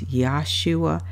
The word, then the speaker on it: Yahshua: the names particularly Jesus I heard you how shy yeah yeah how are you schewe no it's Yahshua and it can start to